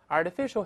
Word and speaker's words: artificial: 那我们先读一下这次 artificial，artificial，同样读快之后，这个 rt 会轻轻浊化成 rd，rd，rd，这个上一个声音。